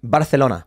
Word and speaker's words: Barcelona: Barcelona. Yeah. That's how they say it in Catalonia.